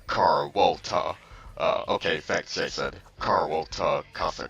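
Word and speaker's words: Carlota: Oh, it's actually pronounced Carwolta.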